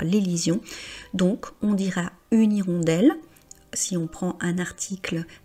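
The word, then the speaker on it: hirondelle: Avec le mot irondel, on est clairement dans le cas d'un mot où le H est muet où on peut faire l'ision. Donc on dira une irondelle si on prend un article indéfini.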